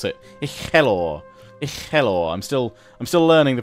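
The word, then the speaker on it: Uchelwyr: So I'm getting my going, you know, rolling the R's and all that.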